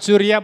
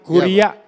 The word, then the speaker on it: curia: Bukan curia, bos saya guru bahasa Latin, kuria Iya.